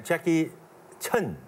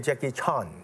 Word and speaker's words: Jackie Chan: protect correct pronunciation uh there's so many Jackie Chun John in China they call me Jackie Chun and some people call me a Jackie Chan all right check the